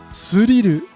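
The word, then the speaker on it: スリル: is used in Japanese, and when they pronounce it in Japanese, they pronounce it as suriru. This is because there's no TH sound in Japanese, and so they have to find the closest approximation to a TH sound, which is an S sound, and so suriru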